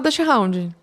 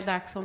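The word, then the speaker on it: Dachshund: é d Hound tá e não se fala dch Hound a gente fala de popular sim a pronúncia darxon Ah é darxon É uma um alemão então é daxon tá gente de daxon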